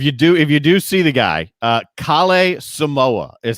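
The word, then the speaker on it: Kalle Samooja: So if you do see the guy, Kale Samoa is how you pronounce that name. Kale Samoa.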